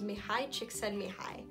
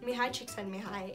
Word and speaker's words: Mihaly Csikszentmihalyi: His name, I'm gonna try to pronounce correctly, his name was Mihaly Csikszentmihalyi.